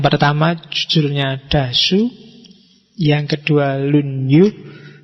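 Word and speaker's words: 論語: Yang pertama judulnya Dasu, yang kedua lunyu. Bacanya misah ya kalau disambung jadi lunyu. Y kalau lunyu licin.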